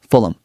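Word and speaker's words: Fulham: F U L E M Fulum. Again, a soft ending.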